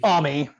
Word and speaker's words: Ami: Ami. I think Yeah. it's supposed to Amy, be Amy, Ami. but they all call her Ami. Ami. Her name is spelled Amy, but they pronounce it Ami, and I do not want to call her Amy.